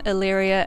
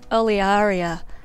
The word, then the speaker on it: Olearia: always pronounced it however to pronounce a botanical name correctly you're technically supposed to pronounce all of the vowels so technically it's olearia axillaris so you can call it illyria or olearia i'm probably going to